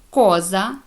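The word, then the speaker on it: cosa: вивчити і запам'ятати далі коли буква буква ч читає це як к коли вона стоїть після неї йде голосна а о у наприклад ка Каза будинок коза річ куоре серце бачите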